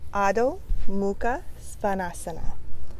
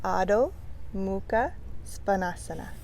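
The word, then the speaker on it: Adho Mukha Svanasana: This one's one that people have some trouble with. Adho, downward. Mukha, facing. Downward facing or face. Svanasana. So that one is tricky for people. Svanasana. Adho, Mukha, Svanasana.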